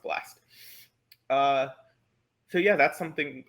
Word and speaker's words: blst: this one library called blast blst but it's pronounced blast uh so yeah that's something i'm proud of